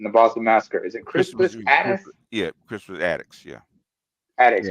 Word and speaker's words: Crispus Attucks: How many people remember Crispus Gaddis? Or how do you pronounce his name?